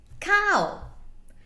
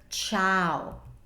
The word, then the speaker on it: ciao: this word you say ciao ciao if we didn't need to spell the eye because the eye was was abandoned in the sea that would be cow why don't we spell ciao like cow because as I was